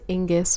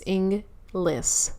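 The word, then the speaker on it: Inglis: and Rob englas I'm pretty sure I said Inus one time and that was really embarrassing for me because I had looked to make sure I was pronouncing his last name properly and I didn't it's inless so preface I'm pref prefacing this by saying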